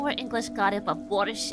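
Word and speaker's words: borscht: English got it but borish is actually pronounced without tea in Ukrainian ah I see I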